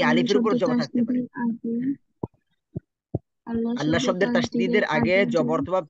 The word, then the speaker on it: আল্লাহ: এটা হয়ে যায় তেমন কষ্টকর কিছু না এখানে আল্লাহ শব্দ দেখেন আল্লাহ শব্দ এটা এখন আল্লাহ শব্দ